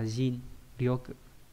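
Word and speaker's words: 尽力: là hết hết sức, hay là jin ryoku là trận tận lực nhá, đọc là jin ryoku.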